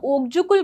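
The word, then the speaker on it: Okjökull: Loose itself is द ओग्जुकल glacier it is pronounce is a okay glacier.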